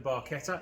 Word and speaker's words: Barchetta: Welcome back to another episode with the Barchetta.